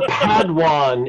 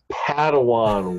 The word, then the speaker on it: Padawan: I am but a Padwan in the Star Wars extended universe. You missed a syllable, Padawan. Padawan.